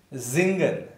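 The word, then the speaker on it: singen: Yeah, let's say if here it is Zingen, S is pronounced as Z, Zingen, Zingen, Samstag.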